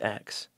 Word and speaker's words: X: x button pronunciation so sony has officially came out and stated that the x button is technically pronounced cross though most people including myself obviously pronounce it as x but what do you